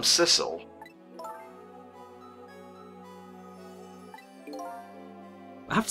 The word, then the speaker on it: Sissel: My name's not Missile, it rhymes with missile. I'm Sissel.